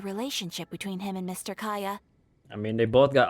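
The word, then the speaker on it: Kaeya: okay all right so y'all been telling me that his name is pronounced kaya so sorry for butchering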